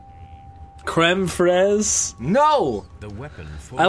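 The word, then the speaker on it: crème fraîche: um so yeah it's it's not creme phrase but it was just like okay Dino the chef sold the recipe okay I get that but just for future reference when you're pronouncing it it's just Fred creme frezh know the weapons I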